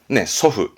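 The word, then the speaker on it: 祖父: 조부, 할아버지의 조부님의 발음은 소후, 소후.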